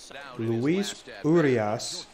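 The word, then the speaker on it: Luis Urías: runner on second will not cause any trouble luis urias is how the announcer just pronounced that so he is up to bat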